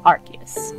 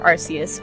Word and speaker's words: Arceus: I am that which humans call Arceus, or Arceus, whichever pronunciation you prefer.